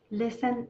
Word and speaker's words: listen: listen listen listen yeah so now let's take this s and let's take this i and this l and this e and this n and this t listen is silent so if we want